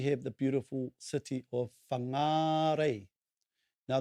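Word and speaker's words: Whangārei: the beautiful city of fangarei now notice the correct pronunciation of fungi is with the macron over the second a bangnare so there you have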